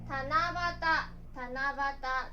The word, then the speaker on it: 七夕: Cách đọc đặc biệt của chữ Kanji cho "夕" là vẽ "七夕", được đọc là "tanabata," có nghĩa là "lễ hội sao" vào ngày 7 tháng 7.